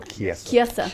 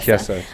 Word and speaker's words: Chiesa: So we got Condit, and he's fighting Michael Chiesa. I always forget how to say his last name. Chiesa. It looks like Chelsea or something. Chiesa.